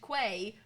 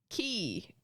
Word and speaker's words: quay: So quay is not pronounced is not pronounced uh quay. It's pronounced key basically qui quay queen mermaid quay. That's in my head it's like mermaid quay is the place. It's not. It's Mermaid Key.